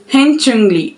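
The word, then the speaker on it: 현충일: So the Korean pronunciation of Memorial Day is Haenchungli. Haenchungli. Hope I'm not pronouncing it wrongly.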